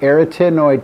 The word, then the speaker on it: arytenoid: And this much larger piece below it is the arytenoid cartilage, the A one, if you don't like the pronunciation. I usually say arytenoid cartilage right here.